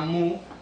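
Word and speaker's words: μ: través de un símbolo una letra griega que se llama mu o que a veces se pronuncia también como newu y que quiere decir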